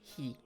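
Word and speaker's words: ひ: think of yeah um it's he actually e okay cause it's this c is actually the h and then it's an i so it's he so like if you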